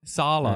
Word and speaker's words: Saleh: Saleh.